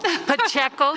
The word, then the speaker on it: Pacheco: So I just want to go on record and say it's Pacheco. Pacheco, thank you.